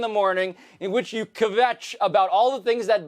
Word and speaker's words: kvetch: It's a really nice job you're making kvetch into a two-syllable word.